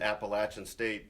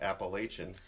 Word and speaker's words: Appalachian State: to school, but I've always known to pronounce it Appalachian State ever since Blair had a little run-in with Danny Nee. Former Nebraska basketball coach Danny Nee called it Appalachian. Yes. And Blair gently corrected him.